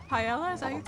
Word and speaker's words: paella: What about some Pella. Paella.